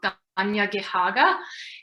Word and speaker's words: Tiohtià:ke: So, and also I think it's really important for us Montrealers, those of us in Tiohtià:ke, to practice those pronunciations of how to say Mohawk, so Tiohtià:ke, and how to say Montreal or Tiohtià:ke, and to have those at the ready.